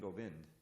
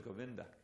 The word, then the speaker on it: Govinda: You don't hear him saying Govind. It's always Govinda, right?